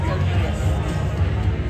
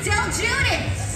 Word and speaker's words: DelGuidice: We're saying Judas Priest because his name is Mike. Judas. So that's how we were remembering to say it right. Because it's spelled weird to us. So Mike DelGuidice. Like Judas Priest. That's how we remember.